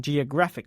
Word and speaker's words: geographic: when we do this the word stress moves to a different place in the word here's John again he studied geography as a young man he visited some very interesting Geographic locations did you hear